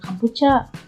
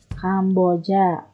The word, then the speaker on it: Kamboja: Bacanya jangan Kampucha, Kamboja.